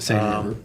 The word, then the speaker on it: Seine: to say it right, the Seine River. Yep, the same river.